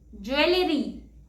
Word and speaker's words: jewelry: The next word is jewelry. And the correct pronunciation is jewelry. It's not jewelry, it's jewelry. The next word is broccoli.